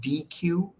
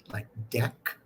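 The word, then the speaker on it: deque: I pronounce it DQ because that makes sense to me, double-ended Q. But a lot of people I know pronounce it like deck.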